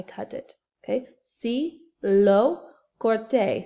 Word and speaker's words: corté: Okay, sí, lo corté, C-O-R-T-E, accent on the E.